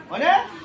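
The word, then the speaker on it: honest: না থাকা নিছে না অনেস্ট হয় অনেস্ট যেহেতু হইছে যেহেতু এইচ এর উচ্চারণ নয় তার অন সাউন্ড হইছে কি বলবো ইয়া কি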